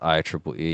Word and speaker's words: IEEE: IEEE, pronounced IEEE. Yeah, thanks, Google. The Institute of Electrical and Electronics Engineers.